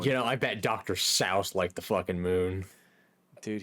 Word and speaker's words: Seuss: Also, his last name isn't pronounced Seuss. It's like Souse or Seuss.